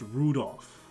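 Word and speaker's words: Rudolf: a bit of anyway this guy's name is pronounced rudolph like the red-nosed reindeer he must hate grandfather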